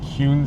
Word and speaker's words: Kuehn: But the middle of Tyson Wells is the main street is called Kuhn Street, and this is right here. It's spelled Kuehn, Kuhn Street, and I'm going to